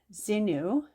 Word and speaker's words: Zhinu: So in the beloved Chinese folk tale, The Cowherd and the Weaver Girl, cosmic fairy Xinu, and it's spelled Zhinu, comes down to earth and marries a cowherd, Niulang.